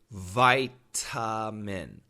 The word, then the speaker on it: vitamin: m i n vitamin now actually that's spelled with an A but it kind of has a short u vowel sound vitamin but Americans don't say that we say vitamin vitamin v d d d d with a flap t d d vitamin vitamin